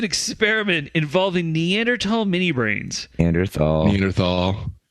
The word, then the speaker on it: Neanderthal: Neanderthal. The H is silent. Neanderthal.